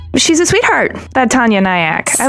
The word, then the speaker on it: Nayak: And then Nayak is like kayak with an N.